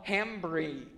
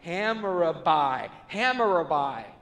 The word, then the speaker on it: Hammurabi: There was a tablet they found called the Law of Hammurabi. I totally just butchered that. Hammurabi.